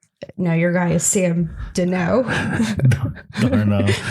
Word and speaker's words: Darnold: No, your guy is Sam Darnold. Darnold. Like Darnold. the easiest name to pronounce, and you screw Darnold.